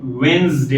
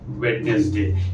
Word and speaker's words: Wednesday: ठीक है, ये क्या है, वेंसडे है. इट इज नॉट वेडनेसडे. इसीलिए आज मैंने सिंपल से वर्ड्स चुने कि आप ये भी जानिए साथ में कि what is the correct pronunciation. It's नॉट वेडनेसडे, mind you, इट इज वेंसडे.